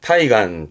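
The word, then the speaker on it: 対岸: 대안, 발음은 타이간, 타이간. 대안이니까 상대편, 맞은편 언덕, 맞은편 해안가를 말합니다. 이 타이간은 요렇게 씁니다. 타이간노 카지, 카지는 화재, 불난 거죠.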